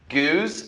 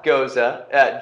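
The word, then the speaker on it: gueuze: Goose, not Goza. G-U-E-Z-E.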